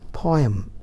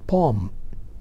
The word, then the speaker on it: poem: We all say it as poem, but now the right pronunciation is poem. The correct word is poem. No need of saying poem, but right, poem.